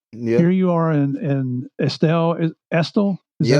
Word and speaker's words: Estill: Here you are in Estill. Is that how you say it? Estill, yeah.